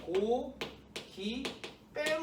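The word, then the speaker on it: 고깃배: 발음이 어떻게 돼? 그렇지. 고, 기, 빼로 발음돼요.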